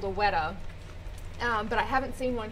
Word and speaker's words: weta: She said, but there is this one bug called a weta, but I haven't seen one here in 2 weeks.